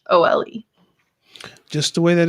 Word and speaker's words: Nicole: Just make sure you remember that it's the French Nicole. So it's Nichole.